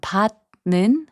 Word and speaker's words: 받는: And 받는, which means receiving, is pronounced as 받는.